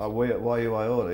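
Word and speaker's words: Y U I Orta: The 89, We Oughta, how's it pronounced? Why You I Oughta, yeah.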